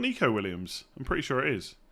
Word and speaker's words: Nico Williams: It's pronounced Neko, not Nico Williams. Is it not Nico? Is it not Nico Williams?